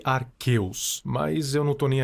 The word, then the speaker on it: Arceus: A propósito, eu sei que os nomes se pronunciam guiratina e Arqueus, mas eu não tô nem aí.